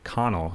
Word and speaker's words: Connel: the owner of hedy hutton eau claire jake connell right that's how you pronounce it yes sir and off camera who's